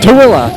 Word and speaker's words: Tooele: how do you say it Josh I blanked toilla toilla Utah I totally missed that all right and